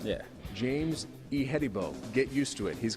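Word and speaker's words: Ihedigbo: about first of all give us the proper pronunciation of the last name it's e hedibo all right yeah james e hettibo get used to it he's going to be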